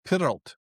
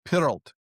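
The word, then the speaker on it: Pyrllt: were known as the Pyralt. It's a Welsh word, Pyralt, P-E-R-Y-L-L-T, the Pyralt, right? Although the original pronunciation, who the hell knows, right?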